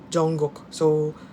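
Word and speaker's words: Jungkook: sa Busan as in ano kinorrect niya yung pronunciation namin ng ba para kasing Junk Cook so hindi Jong Jong Gok Jong parang J o N G tapos yung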